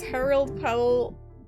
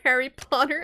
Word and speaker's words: Harold Powell: really remember axe killer name is Harold Powell said it wrong Yoshi you said Harry Potter I mean everyone's British